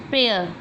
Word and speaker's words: Prayer: Prayer. Here A is silent letter.